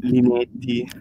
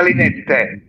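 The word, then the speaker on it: Linetty: non mi ricordo ehm perché Linetti Perché si chiama Linette Ok basta cantiamola perché I telecronisti italiani sono ignoranti perché se andate su forvo così per fatevi una cultura andate a sentire come si pronuncia Linette in Linette anzi in in polacco Allora io ho un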